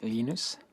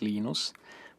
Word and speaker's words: Linus: I speak Swedish it's heinous when I speak Finnish it's Lino's when I speak English its Linus and I really don't care how people browse my name but Linux is